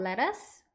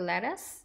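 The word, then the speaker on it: lettuce: 저희 양상추도 있죠데 양상추 같은 경우에는 a of letus or iceberg letus 이렇게도 부릅니다 letus 두 번 해 보실게요 letus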